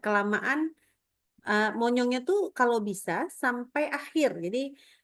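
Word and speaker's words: بسم الله: Bismillah. Oke. Stop. Tadi sinnya enggak kedengaran tuh bunyinya. Bis. Nah, tadi kedengarannya bismillah jadi enggak kedengaran ya.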